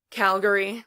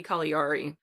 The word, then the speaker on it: Caligari: I pronounce at Calgary Calgary like the city in Canada yeah but it but again it's supposed to be an Italian name so should be call er II it's about a man